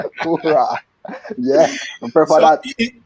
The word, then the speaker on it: Elaine Thompson-Herah: And Chris, I have to call her, pronounce her name the way Snoop Dogg call her. Elaine Thompson-Herah. Hurrah.